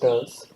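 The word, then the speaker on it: TERLS: the sounding Rockets from what was then called turs that is t e r LS pronounced turs are called tumba equatorial rocket launch station that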